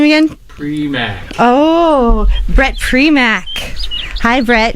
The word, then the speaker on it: Primack: Primack.